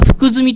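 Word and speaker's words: 福富: 、まあ、福富平左衛門って書いて、実は福住と読みますけれども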